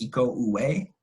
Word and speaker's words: Iko Uwais: I still don't know how to say his name because he's from Indonesia, and I think it's pronounced Iko Uwais. It's Uwais.